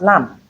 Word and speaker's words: lamb: We have lamb. In lamb the MB at the end is realized as M because letter B is silent and in subtle we don't have the B sound.